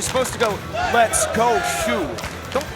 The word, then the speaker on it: Shoe: Guys, you're supposed to go, let's go, Shu. Don't stretch it to 2 syllables. It's one syllable.